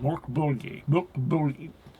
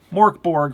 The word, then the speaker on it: Mörk Borg: And I'm going to use the anglicized pronunciation of Mörk Borg. I know how it's supposed to sound in Swedish. I just can't say it right. Mörk Borg. Mörk Borg for purposes of this video.